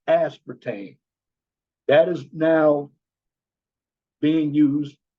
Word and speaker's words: aspartame: Going back, aspartame, that is how you pronounce the artificial sweetener that replaced saccharin because of cancer. It's aspartame.